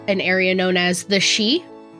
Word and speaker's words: Sidhe: Port Ecne is an area known as the she spelled um I'll put it in chat. S I D H E. Thank you Gaelic. We love you. Um but it's pronounced the she and it basically means the hills.